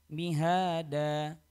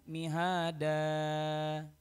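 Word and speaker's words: مهادا: tiga atau bahkan lebih maka cara membacanya mihada cukup bukan mihada sama seperti dalam surah adduha wadduha seperti itu hanya dua harakat saja tidak boleh lebih dari du harakat alayat rak eh t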